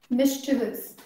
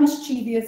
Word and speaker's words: mischievous: Mischievous. I've heard like so many people say mischievous. It's not mischievous, it's mischievous. Mischievous.